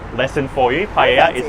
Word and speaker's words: paella: Paella is how you pronounce it.